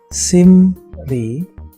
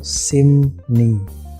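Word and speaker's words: 심리: Contohnya simri, maka bacanya itu simni. Terakhir, iyeng bertemu riel, iyengnya tetap, rielnya berubah menjadi nien.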